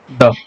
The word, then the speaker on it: the: देखिए THE इसे दी का प्रोनाउंस करेंगे जब ये किसी भी वॉवेल से स्टार्ट होने वाले वर्ड के पहले आए। जैसे आपके पास में अगर एक वर्ड है आइसक्रीम, तो आप इसे कहेंगे दी आइसक्रीम।